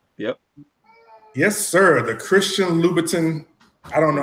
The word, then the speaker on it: Louboutin: The Christian Louboutin. I don't know how you pronounce it.